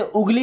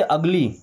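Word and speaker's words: ugly: इसे उगली नहीं पढ़ते। अगली क्या पढ़ते हैं?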